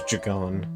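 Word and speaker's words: Jegon: Actually, I think the technical the actual like pronunciation is Jagon. The Jagon River.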